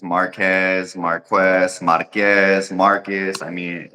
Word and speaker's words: Marques: lot of different pronunciations Marquez Marquez Marquez Marcus I mean it all the pronunciations I've heard them all what how do you say your name then uh Marcus is fine Marcus see this is